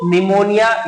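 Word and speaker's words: pneumonia: Pleuro निमोनिया, ये P silent है, निमोनिया like organism are the example of prokaryotic cell.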